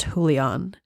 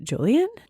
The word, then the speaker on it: Julian: the audio book and in the audio book the main love interest and the spirit is pronounced julan with the nickname of Jews listening to an interview with the author the author actually pronounces it Julian we've hopefully gone for